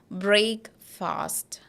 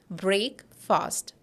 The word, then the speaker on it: breakfast: we have fast and people usually say together it as break fast break fast okay but it is not break fast here we are not pronouncing it as break but we'll see it is break break and this is not fast this is first first and together we have breakfast I had noodles for